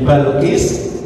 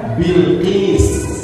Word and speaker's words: Bilqis: namanya menjadi Balqis, itu karena orang Indonesia ingin mengucapkan bahasa Arab dengan cara yang paling mudah. Karena antara Bilqis dengan Balqis, lebih enak diucapkan Bilqis atau Balqis? Balqis. Karena dalam bahasa Arab harokat kasrah yang dibawa itu lebih berat untuk diucapkan daripada harokat fathah.